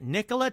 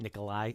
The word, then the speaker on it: Nikola: That's another big theory, that Nikola Tesla's technology, and I did just mispronounce it, Nikolai, it's Nikola, that Nikola Tesla's technology might be responsible for the Mandela Effect.